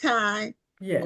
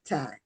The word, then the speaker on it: Tiye: So now, is this pronounced Ty Yes, or it's time. okay? Okay, because I didn't know if it was 2 syllables, and so No. I didn't. Okay, it's Ty.